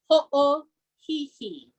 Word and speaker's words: ho'ohihi: And so one good example is the word in the middle of the song, ho'ohihi. Ho'ohihi. Okay. And so you hear the pronunciation with the okina between the two O's.